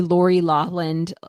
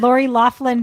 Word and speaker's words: Laughlin: So JB totally Lori Lawland, however you say her name, the Pakistani med school Lori situation. Lawland? Yeah. You silent that GH? He Lori Laughlin that. Laughlin. Yeah. Yeah, Laughlin, yeah. Oh my God.